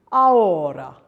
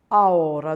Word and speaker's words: ahora: And another word, ahora, ahora. The two vowels allied into each other.